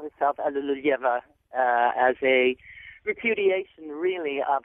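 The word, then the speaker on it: Alliluyeva: That's as close as an English speaker can get to the Russian.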